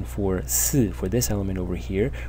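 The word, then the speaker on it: 寺: And this right side, right part of the character over here, this whole part, 1, 2, 3, 4, 5, 6, this today is pronounced si in Mandarin, and its meaning is a temple, like a Buddhist temple.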